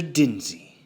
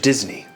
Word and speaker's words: Disney: So you are, in fact, Mr. Dinsey. No. Mr. Disney. If you're gonna say it right.